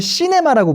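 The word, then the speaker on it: cinema: C가 강세기 때문에 여기는 C 세게 해주고, 두 개는 그냥 시네마, 뭐 약간 이런 식으로 발음해주는 게 슈한 거예요. 시네마가 아니라 C 강세, 나머지 두 음절은 그냥 뭉개서 시네마 해서 마지막에 저는 지금 뭐라고 발음하고 있어요? 시네마. 이런 거예요.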